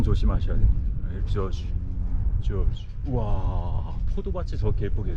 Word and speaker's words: Georges: 발음 조심하셔야 됩니다. 조지.